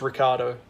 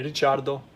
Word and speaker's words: Ricciardo: i touched on earlier it is an italian last name so the the real